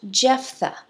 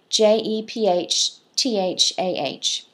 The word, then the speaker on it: Jephthah: another son of Gideon, and his name is pronounced Jephthah, Jephthah.